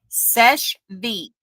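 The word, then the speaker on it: Seche Vite: Sesh Veet. It's spelled SESCHEVITE. That's the top coat.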